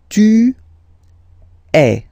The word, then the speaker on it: es: And for tu, then you've got this combination of letters, okay, but then basically the sound you will pronounce or you will produce is e, okay, tu es, all right, je suis, tu es, okay, so let's see